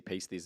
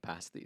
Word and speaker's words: pasties: put bleeps on when you say paste these instead of past these. I figure it's the same thing. It's just a long a Oh, okay.